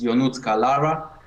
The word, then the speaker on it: Ionut Carlara: It's Ionut Carlara, but it's harder for non-Romanian people to say it.